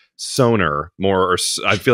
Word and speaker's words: Sonor: yeah it's all right how do you pronounce it well I I say sonor but it's really sonor sonor okay and and but